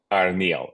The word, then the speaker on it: Arneill: Arneill, okay.